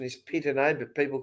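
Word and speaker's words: Pittonet: the proper pronunciation is Pitane, but people call him Pitanet. Is that right? Let's just call him Pito. Okay. So right. What do you think? It's like Pitane, Chardonnay. It sounds more French.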